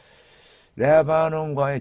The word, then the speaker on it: Lebanon: 자, 레바논 액센트를 보니까요. 레바논이라고 그래요. 레바논. 첫 음절에 액센트가 있더라고요.